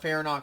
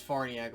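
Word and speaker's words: Farniok: love to see matt farniak or fair knock however you pronounce it i know it's farniak but some people you know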